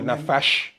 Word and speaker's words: nafash: N-A-F, or nafash in our tone, N-A-F-A-S-H, nafash.